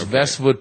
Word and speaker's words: Vestwood: hero yeah and it's vestwood pronounced with you know it's like Westwood but with v's and basically this is